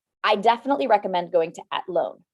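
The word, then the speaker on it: Athlone: definitely recommend going to atlone okay it's spelled like athlon and it is um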